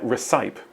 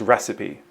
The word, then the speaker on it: recipe: dedication and hard work yes it sounds like recpe but that isn't a word so what word sounds like recpe but means formula and which word would fit into that context here is the answer a good recpe for Success includes patience dedication and hard work yeah so the missing word is recipe which non native speakers of English often come unstuck over here's number four I